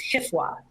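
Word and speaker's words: HFWA: pronunciation and i think the division is referring to this one as hifwa so hifwa covers two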